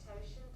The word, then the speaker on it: totient: Euler's totient function. Totient. Okay, yeah. So that's a tricky thing about English. Things may get pronounced not the way they look, fortunately.